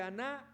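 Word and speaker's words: ἀνά: Se pronuncia así, aná.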